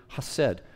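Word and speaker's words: hesed: of weeks ago was a Hebrew word called hassed okay the transliteration would be h e s d h e s e d and it's pronounced just simply hassed and in Hebrew uh the emphasis on syllables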